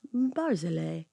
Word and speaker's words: Barzillai: I looked it up and he goes, Barzillai. It is easy. Barzillai. Like he was like, you can do it.